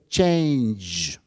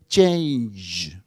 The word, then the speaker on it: change: The reason why he can't even pronounce the keyword change is because in order to pronounce it properly, you need to push your lips sort of outside at the ending.